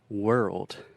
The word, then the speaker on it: world: just one second so the word world this is difficult because we have the r sound ER were and we also have that tricky RL combination that can be really difficult